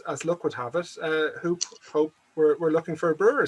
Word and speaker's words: Hoop: I understand from Vim it's pronounced Hope. It's pronounced Hope, but come on, we're in Dublin.